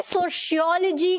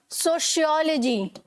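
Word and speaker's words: sociology: Hi, aren't you इन माय सोशियोलॉजी class? अब इसमें हमने प्रोनाउंसिएशन डिस्कस करी है ना, तो मैं यहाँ पर प्रोनाउंसिएशन के बारे में भी बात करने वाली हूँ।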